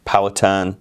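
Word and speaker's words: Powhatan: indigenous person probably a phatan in the US it's pronounced patan I pronounce it the English way because these would be English colonists a phatan had a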